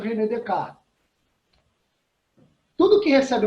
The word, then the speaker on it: René Descartes: Se escreve René Descartes, né? Na pronúncia francesa, René Descartes.